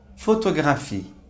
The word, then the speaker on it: photographie: Por exemplo, a palavra photographie, que significa foto.